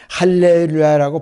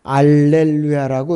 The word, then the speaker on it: 할렐루야: 구약 히브리어나 헬라 어 전통 온문에서 할렐루야라고 발음이 돼 있는데 영어에서는 알렐루야라고 이렇게 표기가 돼 있습니다.